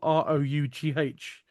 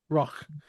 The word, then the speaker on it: Rough: R O U G H Royal.